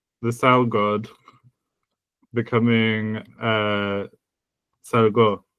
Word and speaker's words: salgo: Salgo with the stress on the first syllable is I leave.